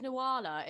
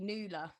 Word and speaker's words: Nuala: the thing is with nawala is it's like so nawala's very unique yeah just but but um but it's actually supposed to be newla the name is actually